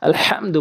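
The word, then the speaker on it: الحمد: ওখানে আলহামদু বলি, এই ছোট হা এনে উচ্চারণ করি। ওখানে বড় হা রয়েছে, আলহামদু বলতে হবে, সঠিক উচ্চারণ হবে, নামাজ শুদ্ধ হবে।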